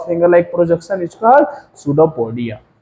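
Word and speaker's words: pseudopodia: like projection is called सूडोपोडिया silent होता है ना तो ये क्या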